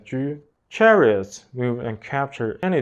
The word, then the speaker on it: 车: In the context of Xiangqi, these characters are pronounced as 车.